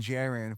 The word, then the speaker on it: JAREN: And Jaron is spelled like Karen with a J.